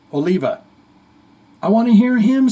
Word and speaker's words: Oliva: want to hear John Olivia's voice is that terrible to say someone's going to rip me because I got his I said his name wrong there Oliva I want to hear